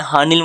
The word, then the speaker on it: Haneul: अरे इस लड़की का नाम अनिल नहीं है, अनिल नहीं है, HANEUL, हाँ निल है। अब मुझे नहीं पता क्या प्रोनाउंसिएशन है, पर अभी तो मैं यही बोल रहा हूँ।